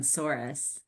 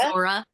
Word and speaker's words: Sora: I would love to get your thoughts on Saurus. Is that how you even say it? Oh, Sora? Sora? Sora.